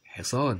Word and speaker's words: حصان: حوض هنا حصان حي حصان كلمه حصان ننطقها بالحاء مكسوره هكذا وليس يعني مضمومه نقول حصان بكسر الحاء حي حصان بعد ذلك